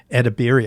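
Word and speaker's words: Edebiri: Io, as Edibiri, I think is how we pronounce her last name.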